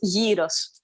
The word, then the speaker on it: gyros: Is it pronounced gyro, gyro, or gyro? Or gyro. What's that? It's gyro. Gyro, okay. Yeah. Because I've heard it pronounced all three ways, and I never know. So no, the correct one is gyros.